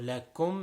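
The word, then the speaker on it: لكم: So lakum, making sure the kaf is pronounced clearly. It is not a qaf.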